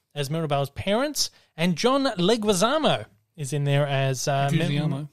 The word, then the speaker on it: Leguizamo: mirabelle's parents and john leguizamo is in there as um no leguizamo said how it's pronounced oh i thought it was gutierrez leguizamo leguizamo as mirabelle's uncle